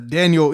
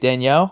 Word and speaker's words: Danielle: yeah i think uh daniel yes that daniel uh hunter the um i guess minnesota i know dan you i think that's what it is it's pronounced a little different i was i was